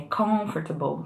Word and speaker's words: comfortable: E não management, ou, por exemplo, comfortable, que é comfortable.